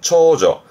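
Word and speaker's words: 長女: 발음은 초조.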